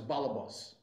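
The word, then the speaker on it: balebos: House is say that in Yiddish pronunciation it becomes balabas because of the again the T at the end becomes an S but instead of going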